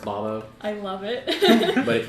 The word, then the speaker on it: Bobo: just have to b-o-b-o it's spelled bobo but it's pronounced bombo i love it but